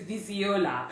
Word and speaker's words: Viziola: want to say okay let's skip it to viziola right so that's spelled v-i-s-i-o-l-a foundation right i was trying to make it sound more nigerian right um but uh